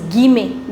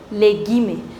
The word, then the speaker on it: guillemets: The angular brackets in French is known as les guillemets, les guillemets. See, whenever ILL comes together in French, you do not pronounce double L. So it's guillemets.